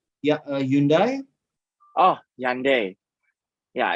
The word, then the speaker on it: Hyundai: Hyundai is the is the correct right pronunciation is Hyundai.